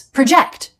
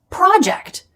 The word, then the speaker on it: project: As a verb, it's project. Second syllable stress, and it means to estimate, to guess something about the future.